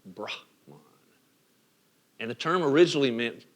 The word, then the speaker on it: Brahman: Listen to how I say that, Brahman, right? Brahman.